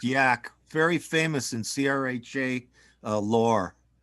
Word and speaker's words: Yahk: It's pronounced Yahk.